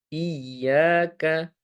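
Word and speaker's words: إياك: Maka huruf ya di sana harus kita baca dengan tasydid pula. Tidak boleh kita hilangkan tasydid di sana, tapi harus kita tampakkan, harus kita tonjolkan di sana. Caranya bagaimana? Dengan cara kita memberi penekanan. Penekanan di huruf ya. Iyaka iyaka. Nah, adapun yang sering kita dengar terkadang hilang tasydidnya menjadi iyaka iyaka.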